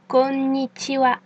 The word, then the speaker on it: konnichiwa: Cette fois, c'est un N ninja qui s'incruste au ralenti. Ça donne connitiva. Le N est bien une voyelle et une syllabe. Vous pouvez maintenant répéter après moi. Konikiwa.